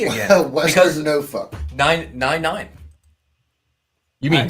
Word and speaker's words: Norfolk: Joshua says it is pronounced no fuck. I am not Asian, if that is the correct way you're supposed to say that. Norfolk.